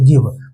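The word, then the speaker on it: give: को नहीं मानने वाला तो यहां पे जी का उच्चारण ज से ना होके ग सही होगा तो गिव बस आप लोग ये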